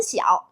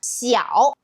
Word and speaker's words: 晓: You might already notice that eow is our rhymes game of our poem Chun Xiao. Actually three lines end with this specific sound. Let's look at the three characters. We got Xiao, Niao, Shao.